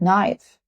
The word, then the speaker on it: knife: For example, silent K, like knife, and we use knife to cut the food, the knife.